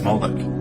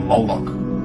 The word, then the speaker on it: Moloch: The MLK is vocalized as Molech, or Moloch, in the Masoretic texts, which is an authoritative text in Rabbinic Judaism. It's from this pronunciation that we get the contemporary name Moloch.